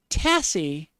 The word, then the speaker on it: Tassie: People from Tasmania, an S again, but this time pronounced with a Z sound, shorten it to Tassie with a hard S sound.